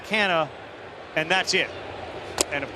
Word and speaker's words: Canha: He started to explain to us the Portuguese heritage, and it's really Canha, but since we've been in America, our kids have been raised this way.